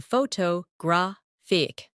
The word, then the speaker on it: photographic: For example, photograph, photographer, and photographic. The stress moves, and that changes the sound.